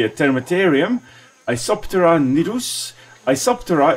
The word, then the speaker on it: Isoptera: termiterium a sopteran nirus isoptera is the order or to which the termites belong the thermite order iso meaning the same and then tera with a silent p means a wing so it's the basically